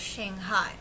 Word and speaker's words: Shanghai: So you want to learn from the locals that it's pronounced as Shanghai instead of Shanghai, right?